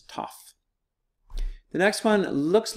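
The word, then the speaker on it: ταυ: we have a top this one looks like a tee and sounds like a team all right it's name is tough the next one looks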